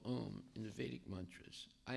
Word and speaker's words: Om: Yeah, the syllable Om is Aum. It means it's Krishna, Radharani, and the Jiva, and the 3 letters of Aum.